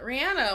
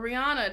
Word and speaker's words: Rihanna: be i mean yeah rihanna why not or rihanna depending on how you want to say her name i her real